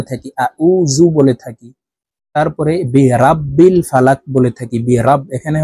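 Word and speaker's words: بِرَبِّ: যাবে পড়তে হবে এভাবে উল আউজু কুল আউজু বি রব্বিল বি রাব্বিল বলা যাবে না পড়তে হবে এইভাবে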